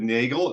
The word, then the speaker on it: Neagle: We're back here again today with a special guest, Nagel. Did I pronounce that right? Yeah. Nagel like Bagel.